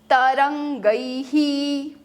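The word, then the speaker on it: तरंगैः: संस्कृत में ऊपर जो दो मात्रा होती है वो है ऐ। ऐ के बाद जभी भी विसर्ग आता है तो विसर्ग का उच्चारण ह और ऐ का लास्ट साउंड ऐसे बनता है अ और इ से। राइट? तो वो इ जो है वो ह कैप्चर करेगा।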